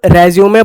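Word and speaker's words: résumé: ये डाटा पढ़ेंगे बायोडटा इसको रेज्यूमे पढ़ेंगे रिज्यूम करना मतलब पॉज और रिज्यूम करना ठीक है इसको रिज्यूे पढ़ा जाता है आगे बढ़ते हैं तो मीडियम मीडियम सिंगुलर है ठीक है?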